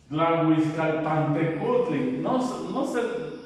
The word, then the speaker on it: Tlahuizcalpantecutli: Tlahuizcalpantecutli, que no se les dificulte pronunciarlo, háganlo en partes. Tlahuizcalpantecutli Xolotl, el hermoso compañero.